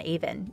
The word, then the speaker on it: Avon: Jesus Jones frontman Mike Edwards would grow up in Bradford on Avon (pronounced A-vin) in the early 80’s.